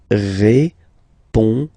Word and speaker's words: répondez: Remember, you combine these two letters, you get the sound E. So, répondez.